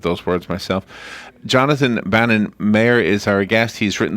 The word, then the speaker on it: Maher: Is it Maher? Thank you for asking. It's Maher. Maher, Bill okay. Maher, the political commentator, M-A-R, All right.